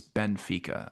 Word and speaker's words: Benfica: Uh just saying it's Benfica. I keep adding an I in between it.